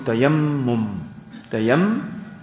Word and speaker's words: tayammum: avec aujourd'hui ce soit tayamam ou soit tayamum tayamum souvent quand nous coins dire fait tayamum tayamouum c'est nous prononcé comme tayamum Alors c'est quoi qui fait dans place au rus ?